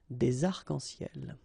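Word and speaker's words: des arcs-en-ciel: Okay, you can see that as usual, we don't really pronounce this final S, so phonetically it's almost the same, but then we've got this liaison between the two, des arc-en-ciel.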